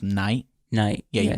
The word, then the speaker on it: Night: yeah he's either knight his name's pronounced night night yeah you pronounce